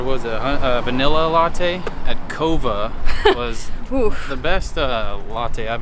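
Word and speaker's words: Coava: fun dummy fact for you uh it's actually pronounced cova which is green or unroasted coffee so we didn't know now you know that latte we just had was a vanilla latte at cova the best uh latte i've had in recent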